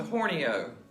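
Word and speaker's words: Horney Ewe: N E Y E W E, but it's pronounced the Horno.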